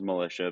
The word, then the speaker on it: Melicia: badass yeah so so my last name is militia but it's spelled differently than the the brand militia or an actual militia so uh but basically